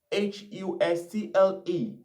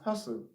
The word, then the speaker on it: hustle: that has a T, Hustle, but in the pronunciation of that word, the T is silent. So the T is not effective. We're not pronouncing the T. So that word is hustle, hustle.